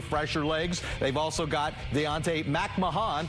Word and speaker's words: Deontay Mahan: They've also got Deontay Mahan. Thank you for the Toronto Argonauts for the pronunciation clarification on that one. We used to refer to him as Deontay McMahon.